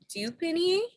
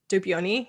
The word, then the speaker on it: dupioni: I love Dupini. Dupioni. Yeah. Mm-hmm. Dupioni. Thank you. Mm-hmm. I've said it wrong my whole life.